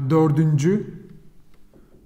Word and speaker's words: dördüncü: We read it as like dördüncü. Dördüncü.